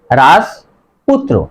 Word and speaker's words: রাজপুত্র: না, সঠিক উচ্চারণ হবে রাজপুত্র। এখানে দেখো রাজ, এখানে দেখো হসন্ত হয়েছে অর্থাৎ হর্ষচিহ্ন হয়েছে, এখানে রাজও পুত্র হবে না, উচ্চারণ হবে রাজপুত্র।